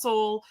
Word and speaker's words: Soule: So Charles Soule, I always say his name wrong because that E always throws me off. Charles Soule and Cavan Scott are